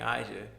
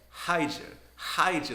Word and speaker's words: Ija: Like, you know how people can't like pronounce their I's, they gotta put an H sound in front of it? He's like, Hydra the whole time.